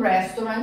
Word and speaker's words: restaurant: Então, o R, ele tem som do R paulista, né? Até eu brinco que é igual o Faustão, que ele fala, vocês lembram? Ronaldo, Romário, é esse R que a gente vai pronunciar. Então você vai falar restaurant.